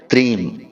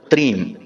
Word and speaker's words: त्रीम: तो अब ध्यान से सुनिए, इस मंत्र का उच्चारण हमें करना है त्रीम। जी हाँ मित्रों, त्रीम। यह मंत्र आपको मोबाइल की स्क्रीन पर भी दिखाई दे रहा है, त्रीम।